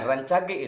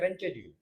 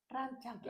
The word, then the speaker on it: Rancage: Nah, rancage itu kalau yang belum tahu ee kadang membacanya saja jadi rench gitu. Oh, itu kalau orang barat ya. Renche. Heeh. Jangankan orang jangan orang Barat. Orang Jakarta aja bilangnya rencage. Rancage. Rancage.